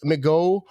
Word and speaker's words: McGough: Will Alex McGough be the backup this year? Like, I didn't really see a lot. That's that new guy that they just picked up, right? McGough is how you say it.